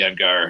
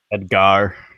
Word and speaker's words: Edgar: Edgar. You emphasize the Ed and the Gar.